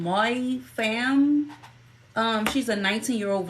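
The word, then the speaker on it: Mai Pham: name U wrong earlier her name is spelled m a i p h a m my fam um she's a 19y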